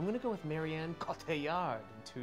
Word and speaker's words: Cotillard: Cotillard. Cotillard. You almost have to say it like a pirate.